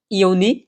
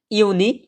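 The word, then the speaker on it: Juni: সাথে রিপিট করবেন ইনোয়ার ফেব্রুয়ারি mace April মাই ইউনি ইউলি August September অক্টোবা November December ঠিক আছে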